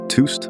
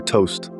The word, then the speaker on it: TOST: Whether you pronounce it TOST or toast, one thing's for sure, these shares are smoking hot today.